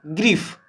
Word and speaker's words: grief: अब आइए GRIEF, क्या होगा, ग्रीफ, क्या है, ग्रीफ। तो ग्रीफ जो है आपको ई, देखिए ग्री, तो ई कह रहा है ना, तो ई का उच्चारण आ रहा है।